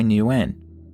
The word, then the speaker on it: Hai Nguyen: And then there is the case of Hai Nguyen (Pronunciation: Hi New-en) who had disappeared from her temporary accommodation during 2005.